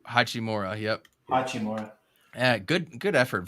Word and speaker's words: Hachimura: But that's not his name. It's Hachimura. Hachimura.